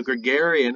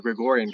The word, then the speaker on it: Gregorian: then was now on the gregarian or gregorian calendar sorry i mispronounced the gregorian calendar which